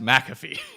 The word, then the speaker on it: McAfee: great I believe je I believe it's pronounced McAfee not maafe McAfee sorry I don't